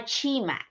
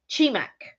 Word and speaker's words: Chimac: Chimac. How do you spell that? CHEEMC. Chimac. Chimac, as in chi and then MC.